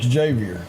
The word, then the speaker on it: Xavier: Makila Dunn, she signs with, do you pronounce it Xavier? Xavier.